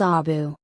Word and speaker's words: Abu: than 300 years ago the first word of Abu Dhabi is pronounced boo by inhabitants on the city's western coast in the eastern part of the city the pronunciation is Abu origins of the Al